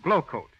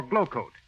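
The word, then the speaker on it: Glo-Coat: rubbing or buffing that is if you use glow coat Johnson's self-polishing glow coat while you sit back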